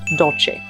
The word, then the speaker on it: Dolce: Again, the C is a ch, Dolce.